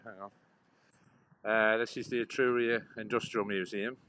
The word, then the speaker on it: Etruria: You can pronounce that place we're at. That's where we are. Etruria, yeah, correct, yeah, Etruria, yeah.